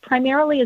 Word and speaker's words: Primerrily: Primerrily is a portmanteau of primer and merrily, like the New England primer of education and merrily down the stream. So it's spelled differently than it sounds.